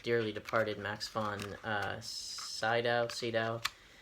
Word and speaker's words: Sydow: departed Max von Sydow sido Max von Sydow I think is how you pronounce it but you know he